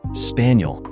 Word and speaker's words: Spagnol: Buck I said Kel spagnol he replied pronouncing it spaniel like a dog and clearing up a